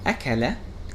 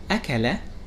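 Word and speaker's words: أَكَلَ: which means food of these words have the same letters alif lam but the pronunciation is different so what makes it different the main difference here comes from what we know as the diacritics or this short diacritic that occurs above the letter kef and then we will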